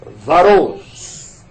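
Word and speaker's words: Wachholz: Vai aparecer aí o nome dela e escreve com W-A-C-C-H-H-O-L-Z. Mas a pronúncia eu perguntei para ela. É Varous.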